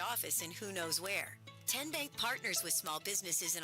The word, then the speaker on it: TN Bank: How do you say the name TN Bank? Nope. Ken Bank. Uh-uh. So, what is it? Ten Bank. 10 as in Tennessee.